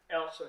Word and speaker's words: Elsa: Elsa, yeah.